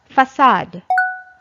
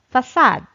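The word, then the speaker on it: façade: This is pronounced as facade.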